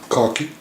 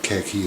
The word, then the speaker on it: khaki: have the Toric's painted cocky and I said cocky not khaki is American still I use the Eastern African pronunciation now you'll notice if